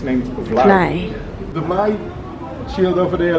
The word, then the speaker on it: vlaai: It's named vlaai. The vlaai shield over there left, you see how you write fly, but you pronounce it like fly from fly away, but totally different because they look to you of the Spanish.